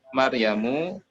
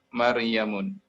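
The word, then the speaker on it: مريمُ: Maryamu tidak bisa dibaca Maryamun.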